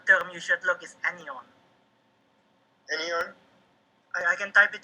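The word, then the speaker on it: anyon: So, sorry, Robert, just to add, if you want to look for it, the term you should look is anion.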